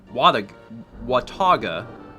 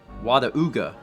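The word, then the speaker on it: Watauga: where I live and it's pronounced Wataga and I've heard it pronounced wada UGA see I would I would have said watagwa but I would pronounce that U as a w like watagwa but there's also places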